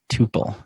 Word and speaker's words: Tuple: art of product podcast was a tuple or couple I think it's pronounced tuple tu piel yep all right I